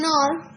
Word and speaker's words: hour: She has been there for an hour. Already, since the H in hour is silent, you use an.